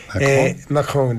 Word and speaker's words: Macron: Se nota que estudió muchos años y habla francés, porque lo pronuncia como los franceses, él. Macron, le hace una cosa.